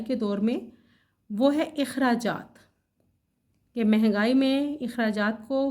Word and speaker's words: اخراجات: نکالنا، خرچ کرنا، لیکن ہم اس کی ادائیگی کرتے ہیں عام طور پر اخراجات کے تلفظ سے، جو کہ غلط ہے. الف کے اوپر ہم زبر ڈالتے ہیں. صحیح ادائیگی ہے اخراجات.